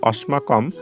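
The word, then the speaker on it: অস্মাকম্: দিয়েছি যেটি আমরা জানি দন্তস থাকলে তার উচ্চারণ সর্বদায় ছ এর মত উচ্চারণ করতে হয় ফলে আমি এখানে দেখো দন্তস এর পরিবর্তে ছ লিখেছি আর বাকি সব আসলে ঠিক থাকলো তাহলে অস্মাকম এই শব্দটির শুদ্ধ উচ্চারণ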